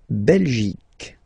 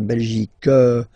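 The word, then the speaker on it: Belgique: in French okay okay La belic okay remember here you will get only the sound C okay belic belic so it's not belg not at all okay because it's only the belic okay Denmark so same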